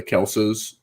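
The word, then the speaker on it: Kelce: Yeah, I think the Kelsey brothers did it too. Like they're like, we're actually the Kelses, which everybody's like, no, you're not.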